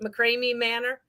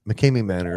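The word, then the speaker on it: McKamey Manor: Is it McCrae Manor? Mckame Mckame Manor.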